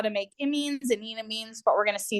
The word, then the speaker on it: enamine: You'll hear some people say this is enamine. It kind of looks like it should be pronounced that way. But as you'll recall, I said previously, I like people to remind people that there's an alkene in here.